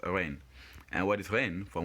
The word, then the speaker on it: reine: Reine. Reine. And again, you realize when you pronounce the word reine that EI obviously has the same A pronunciation. That's why the word is pronounced reine.